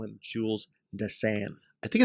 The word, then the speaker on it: Dassin: Jules Dassin, or you pronounce it 2 ways. In America, stateside, it's Jules Dassin.